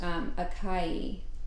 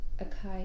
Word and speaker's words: Akai: of strange how to pronounce it, but it's pronounced Akai. And so, or actually Akai, yeah.